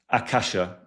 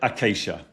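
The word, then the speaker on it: ākāśa: as pronounced as akasha, then akasha is technically the right way of pronouncing it if you take the Sanskrit, the modern interpretation of the Sanskrit word. So a Sanskrit purist, the language Sanskrit, would pronounce it akasha.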